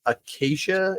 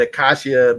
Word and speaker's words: acacia: uh they were the acacia. Is that you told me the right way to say it? Because I always said accashia, but apparently is not accashia.